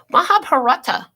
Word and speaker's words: Mahabharata: Mahabharata.